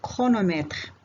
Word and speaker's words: chronomètre: C plus H se prononce K. إذن هذا الحرف المركب ينطق مثل الحرف K في بعض الكلمات في اللغة الفرنسية comme le technicien, le psychologue, le chronomètre.